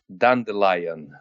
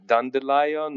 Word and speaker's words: Dandelion: I think for me it's just like the song Dandelion. Yeah, Dandelion. Okay, all right. Because I checked the British pronunciation, I liked it a little bit more. It was What's the Dandelion. Yeah? I guess you said Dandelion. You think is the British pronunciation? Yeah, because it has lion inside.